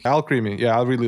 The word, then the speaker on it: Alcremie: Yeah, Alcremie. I hate that. That's her name. I didn't even notice that till like a few days later. Somebody pronounced it as alchemy.